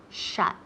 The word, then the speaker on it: shut: Se escribe S-H-U-T, pero se pronuncia esa U como si fuera una A, ok, to shut.